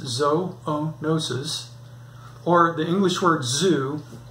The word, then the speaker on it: zoonosis: That's from zoonosis, pronounced zoonosis, or the English word zoo, meaning animals, plus the Greek word nosis, meaning disease, bacteria, or viruses.